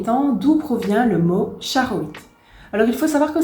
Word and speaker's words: Charoïte: présentation qui sera la cha roit alors normalement ça se prononce avec un t devant mais voilà je suis